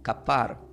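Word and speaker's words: כפר: Sin embargo, la misma palabra reconciliación del hebreo se pronuncia como kapar, que es la K de kilo, la A, la P, la H, como H muda, y la A y la R.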